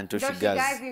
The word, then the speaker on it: Ntosh Gazi: So that is Haiwezi, Ntoshi Gazi, did I say it correctly? Yeah, Ntoshi Gazi.